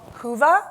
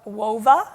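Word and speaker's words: Whova: is a conference app it's called huva or wova depends on who you talk too they pronounce it differently but you can download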